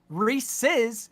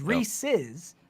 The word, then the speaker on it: Reese's: words not just one the name Reese Reese's races if it belongs to Rhys it is Reese's there's literally and the